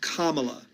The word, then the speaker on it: Kamala: will protect democracy and it's pronounced Kamala Kamala and if you have